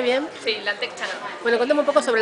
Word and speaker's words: Lantec Chana: ¿Lo pronuncié bien? Sí, Lantec Chana.